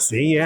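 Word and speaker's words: Sika: am with seea yes oh I remembered see yeah and you pronounced it right too all right that's cuz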